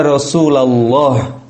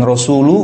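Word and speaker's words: رسولَ الله: Dibaca Apa yg KSU Gimana bacanya Iya rosulallah Ya Rasulallah bukan Rasulullah bukan Rasul I said kemudian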